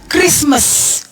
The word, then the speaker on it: Christmas: Kenapa CH di dalam bahasa Inggris Chicago dibacanya Chicago, tetapi ada yang diucapkan Christmas. Padahal C dan H juga. Ya, K dibaca. Padahal C dan H. Ya, dibaca K.